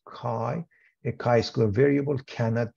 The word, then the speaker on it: chi: for chi-square is chi-squared Greek letter Chi pronounced Chi a chi Square variable